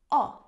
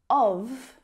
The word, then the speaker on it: of: Instead of saying oh, of, reduce or relax that vowel sound down to a schwa.